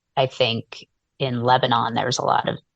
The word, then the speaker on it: Lebanon: um often, you know, pronounced Lebanon, but we pronounce it Lebanon.